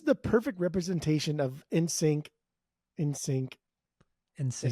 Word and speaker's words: NSYNC: NSYNC.